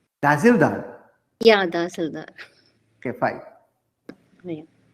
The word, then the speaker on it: Tahsildar: We say Dasildar here, sir. Tahsildar?